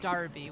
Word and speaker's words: Derby: It is, but it's going to be pronounced Darby with an A. Yeah, this is running into ones that like I could actually know is this is 100% Darby.